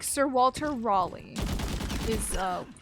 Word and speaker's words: Raleigh: Like Sir Walter Raleigh is uh like the guy who did the thing. I've heard people say Ralele and I think THAT'S So the the ending of that is Lee.